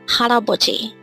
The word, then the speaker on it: 할아버지: We have hal, a, bo, G. And if we read it as a whole, it becomes 할아버지.